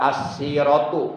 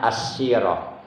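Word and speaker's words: السيرة: Sama ini juga as-siratu tulisannya. Dibacanya as-sirah.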